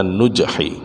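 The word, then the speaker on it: نجح: Ciri atau tanda yang menunjukkan adanya kesuksesan an-nujhi, tercapainya sampai akhir yang dituju, bidhammin nuni, dengan mendomahkan nun, bacanya nujhi, ay dhafara lil muridi bimaksudihi fi nihayatihi.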